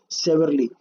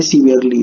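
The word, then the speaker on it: severely: क्या है, strictly and सेवरली, ठीक है। तो यहाँ पे मीन्स स्ट्रिक्टली एंड सिवरली, माफी चाहूंगा बच्चों मैंने थोड़ा सा यहाँ पे प्रोनाउंसिएशन गलत किया, ये सीवियरली है, ठीक है।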